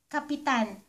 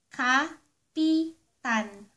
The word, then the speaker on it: kapitan: If you pronounce the word Kapitan, Kapitan, it means to attach or put something.